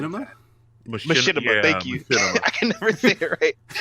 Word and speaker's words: Machinima: Machinima, thank you.